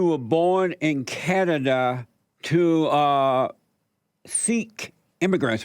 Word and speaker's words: Sikh: So we pronounce it Sikh. Sikh means student.